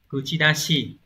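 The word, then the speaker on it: 口出し: Từ số 2 đọc là kuchidashi.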